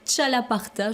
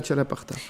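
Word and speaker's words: txalaparta: Il s'appelle le chalaparta, je crois. Exactement. Que je prononce bien. Vous parlez basque. Ouais, c'est fait. Donc c'est le X des ch.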